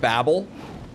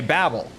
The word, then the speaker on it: Babel: in the Tower of Babel, it's like if you're American you'll say Babel, but UK English, that word is strictly pronounced Babel.